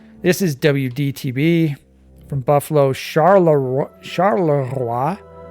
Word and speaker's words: Charleroi: Charleroi. I don't know if that's how you pronounce it. If you were French, that's how you would pronounce it.